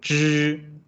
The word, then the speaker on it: 知: If we pronounce those independently, for example, 知 your tone, the front side of your tongue, the front of your tongue is a little bit curved to the inside. 知 and when you pronounce the 鸡 the middle part of your tongue touched the top of your, somewhere below your nose. 知 and 鸡.